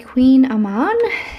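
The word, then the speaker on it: kouign-amann: have two of the queen Aman these are the ones that are spelled funny it's spelled k o u g i n space a m o n and you say it Queen Aman those are really good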